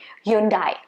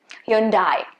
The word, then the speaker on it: Hyundai: the correct pronunciation so the last syllable is supposed to be day but we i think